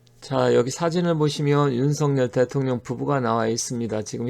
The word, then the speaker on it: 윤석열: 근데 윤석열로 발음을 하는 게 원래 맞죠.